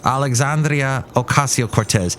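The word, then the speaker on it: Alexandria Ocasio-Cortez: or you oh here's Alexandria Ocasio Cortez I refuse to call her AOC give her every syllable she deserves Alexandria Ocasio Cortez try and roll the RS if you can let's do that you're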